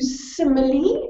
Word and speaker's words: simile: Then we get to simile. Again, you pronounce that final E.